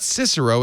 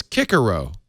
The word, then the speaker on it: Cicero: So it's not Cicero, it's Cicero, which nobody liked.